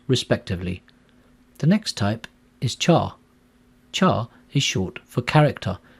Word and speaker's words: Char: the next type is Char Char is short for character and a Char value represents a Unicode character some people pronounce Chara as car either way is fine in this code example